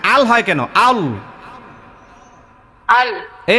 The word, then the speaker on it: আল্লাহ: বলেন না শোনেন শোনেন আপনারটা হচ্ছে আল্লাহ আল্লাহ এরকম হয় প্রথম থেকেই মোটা আল আল বলেন না না আল হয় কেন আল আল এই এখন হইছে